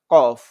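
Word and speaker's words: ق: চার নং মাখরাজে যাচ্ছি চার নং মাখরাজ হচ্ছে জিহ্বার গোড়া তার বরাবর উপরের তালুর সঙ্গে লাগাইয়া কফ এটা হচ্ছে মোটা করে পড়তে হবে এই যে জিহ্বার গোড়া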